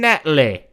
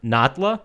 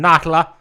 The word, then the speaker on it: Natla: boss, I guess, Jacqueline Natley, which is not how anyone else in the rest of the game pronounces that name. It's Jacqueline Natla, or Natla?